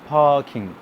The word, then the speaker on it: parking: In Bangladesh quite often আমাদের যে যে আরটা ভেরি স্ট্রং, এটা এত স্ট্রং উচ্চারণ হবে না। ইটস পার্কিং, পার্কিং, পার্কিং।